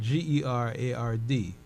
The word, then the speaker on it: Gerard: with my my name is spelled g-e-r-a-r-d my name is Gerard like uh you know let's talk about Saint Gerard yeah so I'm I'm